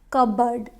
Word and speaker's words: cupboard: pizza or pizza now next word is cupboard cupboard first syllable is stress here not cupboard or cupboard it's cupboard this is cupboard please close the cupboard not cupboard next is coupon many